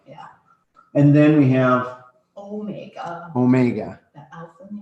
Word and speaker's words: omega: And then we have Omega. omega. The alpha and the omega. Yeah. It's the last letter of the alphabet, and that makes a long O sound.